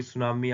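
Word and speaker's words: tsunami: Catastrophe मतलब कि आपदा, कोई मान लो कोई सुनामी आ गई। सुनामी की जो स्पेलिंग है वो टी से शुरू होती है, याद रखना।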